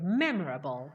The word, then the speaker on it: memorable: that's good correct okay memorable the stress is on the first syllable memorable yes go on